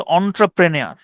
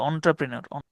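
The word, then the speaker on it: entrepreneur: উনি পরে খুবই হচ্ছে কায়দা করে বলেছে এটা উচ্চারণ হচ্ছে অন্ট্রাপ্রেনিয়ার। আমি আমার উচ্চারণ মনে হয় নাই, উনি আর একটু সুন্দর করে বলে আর কি, অন্ট্রাপ্রেনিয়ার।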